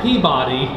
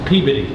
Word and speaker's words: Peabody: won't get it right it is not peabody it's peabody what do you think